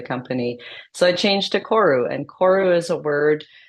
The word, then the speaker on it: Koru: Maui word and and the easy way to pronounce is koru um and I chose